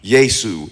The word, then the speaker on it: Yesu: Yesu is how you pronounce his name with some of the Indian and African nations.